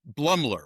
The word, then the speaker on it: Blumler: Um Mark um Blumler, right? Am I saying it right? Yeah, Mark Blumler.